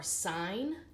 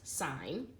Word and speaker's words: sin: will find the abbreviations SI n which is still pronounced sine cos which is still pronounced cosine and ta n which is still pronounced tangent so we do not call these sin coasts or tan that never happens they're always sine cosine and tangent okay so these